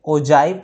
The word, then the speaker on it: ogive: ओजाइव कहीं कहीं लिखा रहता है अंग्रेजी में, और इंग्लिश में OGIVE लिखा रहता है, राइट।